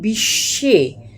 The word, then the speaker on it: বিশ্ব: বয় এই তালিবস এয়ে এই ব টা আমরা উচ্চারণ করি না এটা অনেকটা একটা সাইলেন্ট ব হিসেবে থাকে বিশ্ব অশ্ব এরকম বিশ্বাস